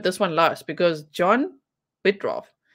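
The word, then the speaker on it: Bittrolff: Actually, I put this one last because John Bitroff. Bitroff. Did I spell that right? Yes, Bitrolf. John Bitrolf. Bitrolf. It's R-O-L-F-F. Okay.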